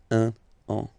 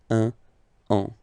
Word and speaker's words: un an: Un an. Okay, so let's read it normally now. Il va partir pour un an. Okay, so you can hear that now I make this link between the two.